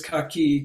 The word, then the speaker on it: kaki: say accus or kakyum or Takia it's always cocky because it's a noun and it's unchanging in